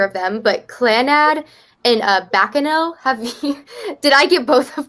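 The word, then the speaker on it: Baccano: to pronounce either of them, but Clanad and Bacano, did I get both of those wrong? Clanad and Bakano. Bacano, yeah.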